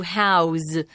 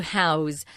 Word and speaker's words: house: I wanted to point out, we pronounce the verb house with a Z sound, but if it's a noun and you're talking about someone's house, it's an S.